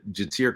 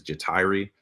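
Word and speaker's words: Ja'Tyre: Interior line, Jatir Carter. I think actually I heard polls say his name is Jatiri. So if I've been mispronouncing that, my bad.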